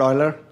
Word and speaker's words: Euler: gentleman's name who Leonard Euler okay how do you spell it boiler EU and ER now were there any